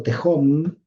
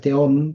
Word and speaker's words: Tehom: Entonces, al final resulta que uno lo termina como nombrando tejom al teom, pero al final, claro, uno ya no sabe bien cómo cómo pronunciar la palabra, pero bueno, más allá de la palabra, porque es verdad que en hebreo es teom porque es una he, pero es una he muy difusa, no es alef, es una